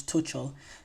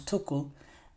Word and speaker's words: Tuchel: TL's name wrong some I always say Thomas Tel it's Thomas tokle um but yes Thomas